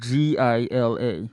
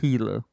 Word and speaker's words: Gila: mammal yeah uh it's it's not pronounced the way it's spelled it's spelled g i l a so it looks like Gila monster but I believe it's pronounced hila it's actually a lizard